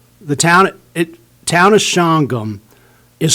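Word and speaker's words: Shawangunk: made the mistake of calling the town of shangham the town of chawangank i got supervisor volks great guy he came up afterwards and says you really need to learn how to pronounce our town it's not chihuango it's shangha so anyway well that's good to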